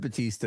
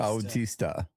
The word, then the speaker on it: Bautista: You've got to pronounce the U in Bautista. Bautista.